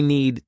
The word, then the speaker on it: need: Notice that I didn't pronounce the D need, because if I do that, it forces me to take a pause, which slows me down. So if you don't pronounce that D at the end, you'll be able to speak faster.